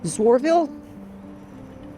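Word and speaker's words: Zoarville: just left Bolivar and now I'm headed to zworville that's how it's pronounced mile 83 so you're supposed to walk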